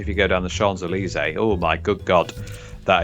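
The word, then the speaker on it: Champs-Élysées: I was just going to say, get this guy with his fucking French pronunciations of Champs-Elysees. Yes. Well, you've got to pronounce it correctly, haven't you? Champs-Elysees.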